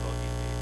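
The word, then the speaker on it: logismoi: Logismi. L-O-I is an E sound.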